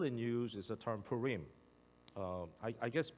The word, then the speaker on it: Purim: I am in English could be pronounced in different ways but it's actually it's a it's a Hebrew background and when you have the ending like that it actually is a long I pull ring so something